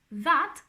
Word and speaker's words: that: So, for example, that house, we pronounce it like with our tongue in there.